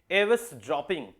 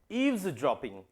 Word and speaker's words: eavesdropping: एक वर्ड होता है EAVESDROPPING, बहुत सारे लोग इसको बोलते हैं एवस ड्रॉपिंग। That is wrong pronunciation dear, that is absolutely wrong pronunciation. यहां पे लिखा है ईव्स ड्रॉपिंग।